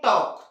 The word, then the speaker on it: talk: उसी तरह से TALK, इसे टॉलक पढ़ते हैं क्या, नहीं, क्या पढ़ते हैं, टॉक। तो यहाँ क्या देख रहे हैं हम लोग कि जब भी क्या होता है, K के पहले आता है तो L साइलेंट होता है ना।